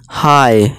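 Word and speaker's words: high: या फिर आप यूँ भी कह सकते हैं, ये जी और एच हमारा साइलेंट रहेंगे, ठीक है दोस्तों। जैसे देखिए इसे हम साय पढ़ेंगे, साय, इसे हाय, हाई यानी कि ऊंचा।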